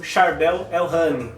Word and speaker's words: Charbel El-Hany: em conjunto com o Charbel El-Hany. Eu acredito que essa seja a pronúncia do nome do professor Charbel.